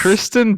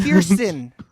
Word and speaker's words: Kirsten Dunst: No, it's just Kristen Dunst's character's getting insane. Kirsten.